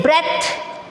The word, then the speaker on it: breath: B-R-E-A-T-H. इट इज ब्रेथ. बेटा ये ब्रीद verb form होता है और ये जो ब्रेथ होता है ये नाउन फॉर्म होता है. इसमें था आता है ब्रेथ.